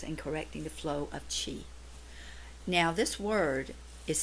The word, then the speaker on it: Qi: technique acupuncture Works in correcting the flow of chi now this word is spelled Qi but is pronounced C he so